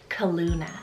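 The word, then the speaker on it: Calluna: Asia, and that is the name Kaluna. So spelled C-A-L-L-U-N-A. That sounds so cute. Okay, I feel like Kaluna would be such a great alternative to the popular name right now, Luna.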